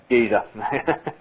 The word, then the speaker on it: Geyser: Geezer.